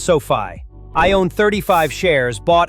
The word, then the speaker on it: SoFi: Coming in at number five, we have SoFi Technologies pronounced SoFi.